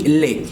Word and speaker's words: les: un plural como termina por ese utilizamos el lee se pronuncia le maracas lee maracas entonces la frase